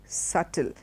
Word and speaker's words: subtle: Martin dur it's a small thing it's very subtle and it is with it's pronounced without the beetus subtle okay the next